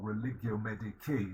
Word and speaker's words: Religio Medici: As a physician, as a doctor, he wrote Religio Medici, the religion of a physician, or Religio Medici, if you use the more standard European pronunciation, not the Italian church pronunciation.